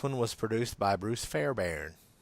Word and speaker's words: Fairbairn: was produced by Bruce Fairbairn. I guess that's how you pronounce it. Fairbairn. B-A-I-R-N. Fairbairn, isn't it? There's really? an R in there, yes. Yeah, that threw me off for years.